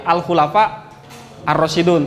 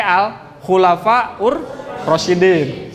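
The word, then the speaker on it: Khulafaur Rasyidin: masa full al-khulafa' ar-rasyidun ini tergantung kita bacanya Ya kalau al-khulafa nya pakai Al berarti al-khulafa' ar-rasyidun tapi kalau enggak pakai al-khulafaur-rasyidin Jangan sampai salah masa lalu kelapa rosidon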